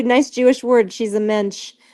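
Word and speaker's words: mensch: Jewish word she's a mench a mench means like a really mench like rhymes with bench but it's it's a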